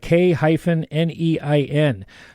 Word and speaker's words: K-Nein: And it's not spelled like you think it might be. So it's K-Nein.